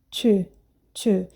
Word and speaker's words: tu: Faz a boca de O e fala I. Tu, tu.